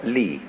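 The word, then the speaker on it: 理: he has a sense of what is called li. I'm going to talk to you about another meaning of a word pronounced li later on, but it's quite a different word.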